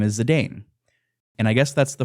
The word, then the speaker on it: Zidane: not changing I know I know in Japanese it's chitan and I I know it's probably pronounced zidan but uh I'm saying zidane I'm happy you did